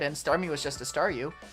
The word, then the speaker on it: Staryu: Starmie was just a Staryu, I could never pronounce its name right. I always ended up sounding like saw you.